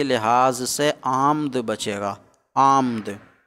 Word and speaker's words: آمد: آمد بچے گا، آمد۔ لیکن آمد کا تلفظ کچھ دشوار ہے کیونکہ 3 ساکن اکٹھے ہو رہے ہیں۔ آ، حمزہ کے بعد جو الف ہے مد کی شکل میں وہ ساکن، پھر میم ساکن، پھر دال ساکن، آمد۔ تو دشواری کی